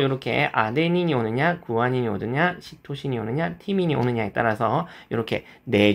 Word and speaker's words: 시토신: 그래서 여기도 이제 사이토신이 아니라 일본에서는 시토신이라고 불러 주시면 되겠습니다. 그래서 요렇게 아데닌이 오느냐 구한이 오느냐 시토신이 오느냐 티민이 오느냐에 따라서 요렇게네 종류의 염기가 붙어서 만들어지는네 종류의 뉴클레오티드가 각각 생기게 되겠습니다.